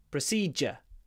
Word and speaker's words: procedure: simple dental procedure so this is a word that really isn't pronounced how it's spelled I don't think you can really guess from the spelling that the pronunciation is procedure Pro C proed proed